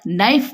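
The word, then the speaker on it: knife: इस वर्ड को और के एन आई एफ ई में के है ना नाइफ पढ़ेंगे इसको के साइलेंट रहेगा तो तबी भी ये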